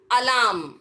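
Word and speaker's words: alarm: करते जैसे अगर हम मैं बोलूं अलाम सुबह-सुबह मला आमदार कर उठते हैं ना तो अगर कौन सा भी भाषा में हम लिख रहे हो तो वैसे लिखेंगे और अलार्म यहां पर आर्ट साइलेंट हो जाता है कि अगर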